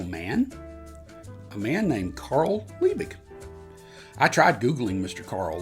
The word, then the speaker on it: Liebig: I looked it up otherwise I would have been pronouncing it the way it's spelled lie big you know like you